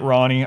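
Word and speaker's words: Ranni: back I know it's Ronnie I know the NPCs pronounce it Ronnie I like it as rainy when they first um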